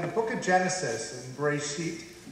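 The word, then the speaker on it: בראשית: The first is that in the book of Genesis, in Bereshit, as it's pronounced in Hebrew, there is a description of the creation of human beings.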